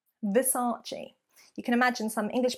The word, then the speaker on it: Versace: great when English people are saying it the mispronunciation Versace Versace you can imagine some English people with the